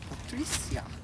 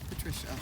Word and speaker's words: Patricia: Say Patricia, not Patricia like we do here in the States.